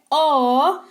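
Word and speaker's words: aww: ना ओ ए ए डब्ल्यू डब्लू इसका उच्चारण होता है ओ ये किसी अच्छी या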